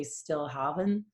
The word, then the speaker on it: Stilhavn: So some people say Stilhavn. It does have more Scandinavian roots.